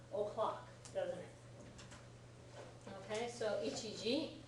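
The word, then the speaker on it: 一時: Do you know how to pronounce it? Ichiji.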